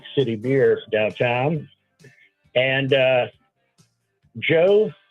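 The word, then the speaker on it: Djo: And uh Joe, I guess d j o is how you pronounce it.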